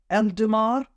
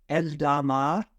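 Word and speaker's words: Eldamar: weak syllable and he's doing this for eldermar El dama would be the correct pronunciation and there are a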